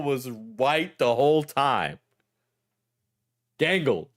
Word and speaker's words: Gangle: him to know that Gaggle was white the whole time. Gangle. Gangle. Excuse me. Sorry. No, I don't want spoilers. Yeah. Yeah. I mean Gangle, not Gaggle.